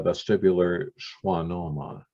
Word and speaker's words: vestibular schwannoma: restore hearing aid hearing rather caused by a vestibular schwannoma i hope i'm pronouncing that correctly that's correct well um probably